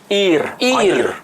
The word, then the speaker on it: Ir: membaca terjemahan saja, akhirnya dibaca Ur Kasdim itu hanya dianggap sebagai kota Kasdim, Ur ya. Padahal tadi udah dijelaskan bahwa kota itu adalah Ir, bukan Ur.